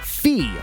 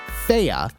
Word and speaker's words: Fe: Fee, or as I've been told it's pronounced, Fea, is 75% off for $4.99.